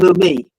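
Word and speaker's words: Leumi: That's the original name of the bank, Lumai, if I'm saying it wrong. Lumai.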